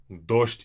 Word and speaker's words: дождь: Дождь is rain. Дождь. And дождь, this O is very important.